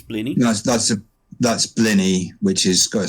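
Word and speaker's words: blini: that was German um it's BL that's that's blenny which is got a silent s on the end say it's spelled blenis but it's pronounced blenny it's like penis yeah my good friend Dennis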